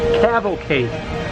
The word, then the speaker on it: cavalcade: Cavalcade.